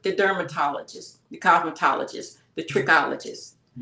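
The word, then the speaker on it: trichologist: So I think as a team effort the dermatologist the cosmetologist the tririccologist and did I pronounce that correctly?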